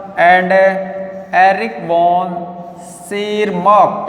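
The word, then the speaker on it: Tschermak: था, and Eric von सेरमार्क, यहाँ पर टी साइलेंट है, यह आएगा सेरमार्क ऑफ ऑस्ट्रिया।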